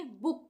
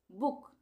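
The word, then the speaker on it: book: तो इसको हम क्या पढ़ेंगे? बुक पढ़ेंगे। छोटे ऊ का प्रयोग करेंगे। यहां पे बुक एल डबल ओ के लुक टी डबल ओ के टुक।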